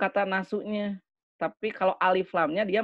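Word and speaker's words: النَّاسُ: Kemarin Anda mengatakan tentang isim itu cirinya ya, nasun. Ini asalnya gini nih. Nasun ya. Nasun. Nah, ini kalau ada alif lam ditambah jadi dibacanya anasu.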